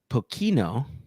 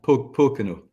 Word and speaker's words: Pocono: a try so I I want to say pokino but I don't know if I have the right uh emphasis on the right syllable so maybe around Pocono Pocono oh like the Poconos here here in the US or yeah there you